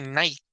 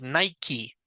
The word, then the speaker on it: Nike: esta marca entonces Claro sí se pronuncia la e pero es porque la palabra no era originalmente en inglés sino sea como adoptado